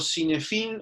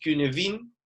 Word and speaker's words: Cynefin: Eh, Esto que está acá, el marco Cinefin, o como se pronuncia realmente, que es Cunefin, compara las características de 5 dominios, ¿sí?